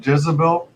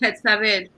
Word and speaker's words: Jetsabel: Do you pronounce it Jetsabel? Yep. Okay. The TS makes a Z sound. All right. I can see it. In Spanish, it's Jetsabel.